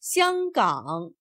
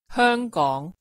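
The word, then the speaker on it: 香港: In standard Mandarin, the name is pronounced Xianggang.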